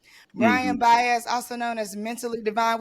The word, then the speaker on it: Baez: How do you pronounce it? Baez. Baez. See, I don't like getting people's name wrong. Brian Hmm. Baez, also known as Mentally Divine, which we got